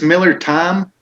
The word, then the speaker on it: Miller Thyme: it is it's miller it's miller time but time is spelled like the spice we would like to